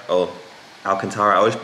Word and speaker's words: Alcantara: in this car it's an alcantara interior it's alcantara and then arctic gray however i have chosen to do alcantara and neodymium just add a little bit of